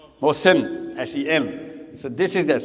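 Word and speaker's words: Mohsen: Mosen. How do you spell it? M O H S E N. Mosen.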